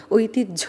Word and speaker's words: ঐতিহ্য: আবার অনেক সময় দেখা যায় অনেকে বলে ঐতিহ্য, দাহ্য, বাহ্য এরকম করে উচ্চারণ করে। ঐতিহ্য কিন্তু বলা যাবে না, ঐতিহ্য বলতে হবে, কারণ হ আর জ ফলা যখন